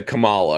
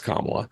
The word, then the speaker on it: Kamala: a problem like like I'm gonna say Camala because it rhymes with Maria even though I know it's kamla how do you solve